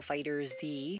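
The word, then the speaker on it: FighterZ: me some dragon ball fighter z that's the right way to say it game creators what's your problem you should you should say it like the show is dragon ball z you should call it dragon ball fight i have my own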